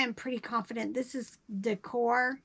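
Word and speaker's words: Daekor: This doesn't have a tag, but I am pretty confident this is Decor. It's spelled D-A-E-K-O-R.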